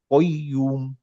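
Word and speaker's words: القيوم: লামের সাথে আলিফ আছে তাহলে আল্লাহু লা ইলাহা ইল্লা হুয়াল হাইয়ুল কই কইম নট কাইয়ুম কাইম তো না এটা হচ্ছে কফ তারানে কইম এইযে প্রত্যেকটা উচ্চারণ ধরে ধরে আমরা মুখস্ত করব ইনশাআল্লাহ লং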